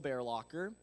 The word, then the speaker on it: Bearlocker: My name is Bearlocker. I know it's kind of a weird last name, so like think of like a grizzly bear and then just like jamming it in the locker of a hallway.